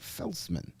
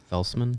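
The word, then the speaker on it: Felcman: names with the European Felman I believe it was well when I when I did the official pronunciation on Elite prospects they pronounced it Felman Felman like the C is a z oh okay yeah all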